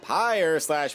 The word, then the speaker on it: Pyre: up here at Mount Pyre / Pyre, depending on how you want to pronounce it, of course.